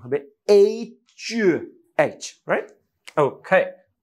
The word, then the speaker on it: H: কেউ কেউ স্টল দিয়ে অতিমাত্র ঢং করে বলে হেইচ দুঃখিত হেইচ বলে কিছু নাই যদিও এইচ এ হ উচ্চারণ হয় বাট এটার একচুয়াল উচ্চারণ হবে এইচ এইচ right okay so the letter is এইচ